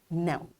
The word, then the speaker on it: know: today, we learned that silent letters are not pronounced in words even though they exist in the spelling. And we practiced saying and writing words with silent K and W. In this way, we achieved our today's SLO, that is to pronounce and spell simple words with silent letters as W in write and K in know.